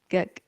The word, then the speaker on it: Gaga: Lady Gaga. Hard G.